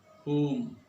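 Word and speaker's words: whom: এইচ এর উচ্চারণ হবে যদি ডব্লিউএস এর পরে ও থাকে, যেমন হু, হুম, হুজ। ও যদি না থাকে তাহলে এইচ এর উচ্চারণ হবে না, যেমন what, Y, when, war, etcetera.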